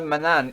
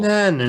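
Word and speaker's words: Manannan: This is where Manan eats his meal. Mananan. You of course. Mananan. Mananan. Yes, you keep forgetting a syllable.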